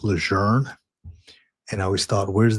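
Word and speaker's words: Lejeune: why you know so it is not pronounced leun like I've always been calling it. She mentioned to us it was pronounced leger and I always thought where's the r?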